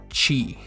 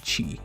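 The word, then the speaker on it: ち: well this one is pronounced chi like you're saying cheese but without the z part so it's just chi um this one is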